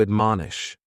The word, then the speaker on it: admonish: The first word is to admonish, and admonish has 3 syllables, and the stress is on that second syllable, mon.